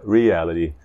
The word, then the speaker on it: reality: Então, a regra é simples, é sempre a terceira sílaba do fim, a terceira sílaba do fim. Por exemplo, com a palavra reality, temos quantas sílabas?